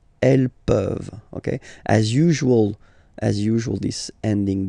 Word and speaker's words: peuvent: pouvons, vous pouvez, ils peuvent, elles peuvent. Okay, as usual, this ending, this ENT ending, you write it, you don't pronounce it. Okay, peuvent, peuvent, peuvent.